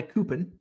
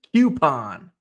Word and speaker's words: coupon: correct pronunciation of coupon it's not a copon some some people call it a copon it's not a coupon it's a coupon Q there's a q in there the coou makes it a q uh